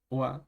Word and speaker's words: は: el caso de deimen la partícula Wa se pronuncia pues como el gir gana de Wa y no como el jir gana de Ja Con el cual se